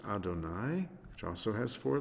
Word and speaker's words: Adonai: have hey or uh which we pronounce as adonai which also has four